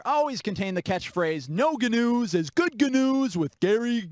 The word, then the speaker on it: GNU: The news segment on the children's program The Great Space Coaster always contained the catchphrase, "No GNUs is good GNUs with Gary GNU." Gary, don't pronounce the G's.